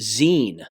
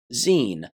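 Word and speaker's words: zine: It's pronounced Zen. My fault. I'm sorry. I speak the English language. When I see Z I N E, I think Z, but it's not. It's pronounced with two E's. Zen.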